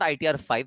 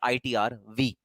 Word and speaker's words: ITR V: This is not ITR 5. This is known as ITR V.